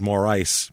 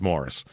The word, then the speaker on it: Morrice: c is Morris so o I've heard it pronounced Mor ice but then but I looked at a local newscast of the high school football team's highlights and they called it Morris Morris repeatedly so it's Morris at least according to the local news complain